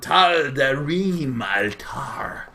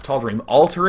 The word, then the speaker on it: Tal'Darim: It's going to be on Tal'Darim Altar, which again you can pronounce as Tal'Darim Altar if you want to be boring, but of course we're not boring.